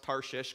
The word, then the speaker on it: Tarshish: israel and in case you're wondering i did pronounce tarshish correctly it's one of those funny bible words that doesn't sound right when you say it tarshish it sounds like uh if you went to